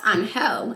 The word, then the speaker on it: Angel: no there's guys named Angel and I'm like yeah like Hispanic like that's a male Hispanic name and it's pronounced on hell in their language not angel oh my girl look